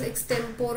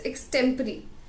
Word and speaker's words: extempore: So the first word here is extempore. A lot of you people will pronounce it as extempore or something like that, but it's extempore, right?